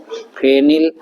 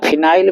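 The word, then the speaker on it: phenyl: पर क्या लगा है फेनिल या फिनाइल भी कुछ लोग कहते हैं तो फिनाइल कह दो या फेनिल क दो बट स्पेलिंग यही रहती है जो हमने लिख दी है टू फेनिल और दो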